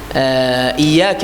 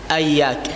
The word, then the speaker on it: إياك: إياك نعبد، إي يقرأ أياك، أياك نعبد، إياك. هذا الخطأ الأول، كسر الهمزة، يعني فتح الهمزة أياك. الخطأ الثاني الشدة إياك، إياك يقرأ إياك نعبد، هذا الخطأ الثاني، الشدة لا ينطقها.